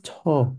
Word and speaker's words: 저: But many students are like, okay, when Sun Senim was teaching me this, he said this is J. So I'll pronounce it like a J. I'm like, no, this is Cho.